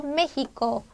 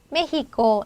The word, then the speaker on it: México: 단어를 소리해서 익히시면 되겠어요 그래서 메히코 메히코 이렇게 내가 강세 규칙을 안 상태에서 소리를 내어서 힘을 주어서 연습을 하셔야 발음을